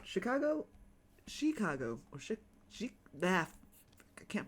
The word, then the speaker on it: Chicago: but you don't pronounce it Chicago, you pronounce it Chicago, like a chick.